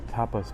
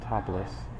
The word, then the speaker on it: tapas: wings from the uh tapas bar that I I work security at the front door. Tapas, that's t a p a s, not topless.